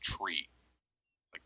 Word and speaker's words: tree: and nine all right three pronounce phonetically is tree-like the thing with leaves on it five phonetically is flyff SI fe and nine phonetically is Niner alright everybody knows Niner now phonetic numerals are not